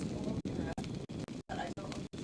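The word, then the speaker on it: Ondra: It's pronounced Andra, but I don't know if that means I don't remember much.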